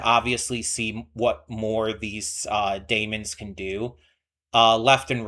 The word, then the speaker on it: daemons: I know it's like officially pronounced daemons, but I'm going to say demons a lot.